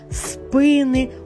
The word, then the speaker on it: спини: розігнись було видно спини усіх спини згинались на рахунок 2 Як бачите це слово в усіх відмінках і однини і множини має наголос на першому складі якщо не запам'ятали то